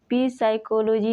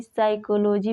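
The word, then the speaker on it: psychology: वैसे ही न्यूमेटिक्स, शाम, साइकोलॉजी, साइकोलॉजी में देख सकते हैं एस के पहले पी हो तो इसको पी साइकोलॉजी नहीं साइकोलॉजी पढ़ते हैं।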